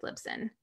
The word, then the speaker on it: Libsyn: then I would definitely look at something like Libsyn for sure. Okay. So I'm going to spell that out for people, because I know they're going to be like, Lib what?